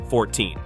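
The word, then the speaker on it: fourteen: In English, it's easy to confuse numbers like 14 and 40. The key is to put the stress on the correct syllable. In 14, the stress is on the second syllable, 14.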